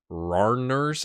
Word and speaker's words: Randers: Someone told me how to say, it looks like Randers FC, and it's apparently Rarners, and I'm like, why is there a D?